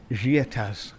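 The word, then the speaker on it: Giettaz: the Alps, La Chalet Gietas, I believe it's pronounced. I wasn't sure whether you pronounce the as on the end, but I'm told that you do by the owner, a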